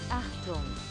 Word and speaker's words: Achtung: Achtung. There you go. That's how you pronounce it.